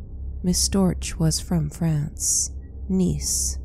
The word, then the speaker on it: Nice: Nice, spelled as nice, rhymes with Greece.